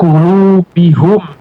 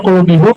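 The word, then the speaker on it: قلوبهم: Coba, Bapak, Ibu, kenapa enggak qulubihim? Kenapa? Ya, ya. Ya, karena kaidahnya kaidahnya lil munasabati. Biar cocok saja dibaca qulubihim. Karena kalau qulubihum, cocok enggak? Enggak enak kan, ya, Bapak, Ibu.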